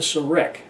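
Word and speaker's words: serekh: important symbol of ancient Egyptian iconography called the Serac appears. That's spelled S-E-R-E-K-H.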